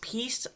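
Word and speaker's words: Piesse: series Smallville also Bonnie I think it's pronounced peace p-i-e-s-s-e she is in some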